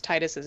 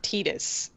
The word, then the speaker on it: Titus: me about how I didn't pronounce titus's name right and I said Titus instead of tetus you know what tetus sounds stupid like yeah no I